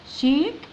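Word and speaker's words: shake: طيب الاس مع الاتش تنطق ها شا، ندخل على الايه شي، وندخل على الكي شيك، الاي الاخيره لا تنطق شيك.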